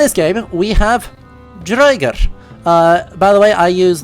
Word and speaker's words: draugr: like Assassin's Creed Valhalla, you're gonna hear them say it like Draugr. That's... no scholar would ever say that, because that is a ridiculous pronunciation.